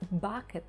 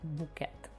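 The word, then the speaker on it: Bucket: альпіністка середнього класу гіацинт бакет яка наполягає на тому щоб її прізвище вимовлялося Як букет другий сезон восьмий епізод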